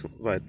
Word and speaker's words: vitamin: Yes, it is vitamin. That's how you say it over here. It's vitamin.